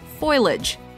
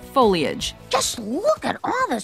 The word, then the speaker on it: foliage: number eight foliage common mispronunciation foilage correct pronunciation foliage beautiful foliage it's not